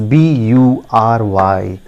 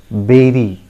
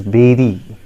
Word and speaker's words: bury: I'm sure many of you pronounce it Bury or Bury. That is a wrong pronunciation, friends. I tell you, the correct pronunciation is, just pay attention and listen to me carefully. It is berry.